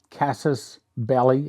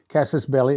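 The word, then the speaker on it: casus belli: okay I'd never heard of this word either Cassis belly and that is the way you pronounce it casses belly it's an act or event that provokes or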